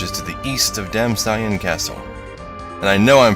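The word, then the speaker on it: Damcyan: And I know I'm probably pronouncing that wrong, because part of it is named after a color, cyan. It's supposed to put emphasis in the second syllable, so it's probably damn cyan.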